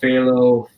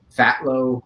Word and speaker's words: Phthalo: so starting from like the name phelo I'm saying yes I know a lot of people are probably pronouncing it really wrong right now I I understand they call it filo uh what was it um Philo or stuff like that it's just fat low on occasion which is